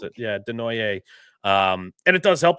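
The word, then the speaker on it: Desnoyers: Bruins staff has been back and watching Caleb Deoy do. That's how you pronounce it. Yeah, Denoy.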